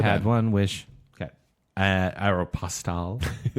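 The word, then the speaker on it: Aéropostale: Aeropostale.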